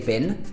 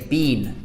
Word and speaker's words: been: I've been to America been Americans would say VIN we say beam easy way to sound more British just say beam instead of bin now this one's a